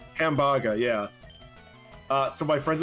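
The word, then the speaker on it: ハンバーガー: in japan no so the japanese word for hamburger is hamburger something like that pronounced like that hambaga yeah uh so my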